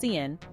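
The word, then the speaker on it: cin: also contains two variable declarations one for sin pronounced Cen which stands for common input and one for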